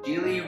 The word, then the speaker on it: Gigli: Gigli. Gigli. Was that it? Gigli rhymes with really, which rhymes with silly, which rhymes with sh**.